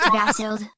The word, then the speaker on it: Vasil: BTW, the first time you pronounced my name was correct, Vasil.